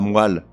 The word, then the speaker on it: moelle: On ne dit pas la moelle, mais la moelle.